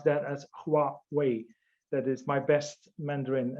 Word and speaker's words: Huawei: in in egypt i think you have to pronounce that as huawei that is my best mandarin as i can